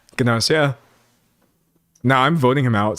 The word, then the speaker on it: Gnosia: That's how they pronounce it uh in the show. Ganosia.